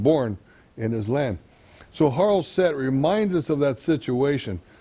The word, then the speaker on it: charoset: Next, we're going to move over here about the charoset. Charoset is the right way to pronounce it.